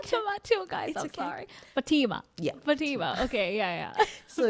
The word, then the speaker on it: Fatima: or is it f oh Fatima for sure because it's a Muslim name oh yeah yeah yeah